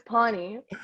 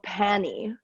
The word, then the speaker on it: pani: to pronounce the word so we need to put like like bonnie with a p then pony but then